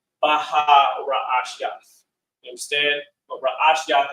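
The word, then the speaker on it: ראשית: Last class, we, of course, started going into vocabulary in Genesis, and beginning is pronounced Ra'ash Yath, which means beginning.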